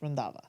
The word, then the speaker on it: Randhawa: is pronounced the last name is pronounced randava okay rindava yes okay excellent um